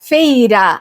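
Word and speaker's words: Feyre: para pronunciar o nome dica fala-se feira até eu tenho dificuldade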